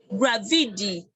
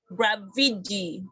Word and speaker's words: graffiti: Sorry, I think the TI sounds like D. Okay, so graffiti. Okay, so let me, for those that just let's listen for the pronunciation. Gravidi. So the TI sounds like D. Gravidi.